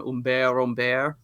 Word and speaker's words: Humbert: but the narrator Humbert, or as you would pronounce it in French, which I just heard for the first time, Humbert, Ooh. which is almost like shadow, is written very vampirically.